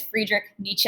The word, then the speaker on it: Friedrich Nietzsche: with a fantastic mustache here his name is friedrich nietzsche and that is how you pronounce that very difficult to spell um so